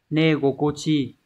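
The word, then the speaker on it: 寝心地: Ví dụ chúng ta có từ cái cảm giác khi chúng ta ngủ ấy sẽ là negokochi.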